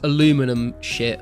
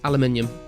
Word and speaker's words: aluminium: UK we say herb because you know we pronounce all the letters also what is this aluminum what the who came up with that man absolutely ridiculous that word it's aluminium how about saying simitar instead of skar yeah